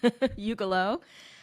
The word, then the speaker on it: Ugelow: My name is Ugelow. People question, how do you say your last name? So before you get to do that, Shawn, Ugelow, I live in Boston.